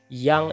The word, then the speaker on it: Jang: pengaruh dari bahasa Belanda memang dalam bahasa Belanda ji7 bacanya y ya seperti itu jadi misalnya yang itu ditulisnya Jang gitu ya Paul Yahya tulisnya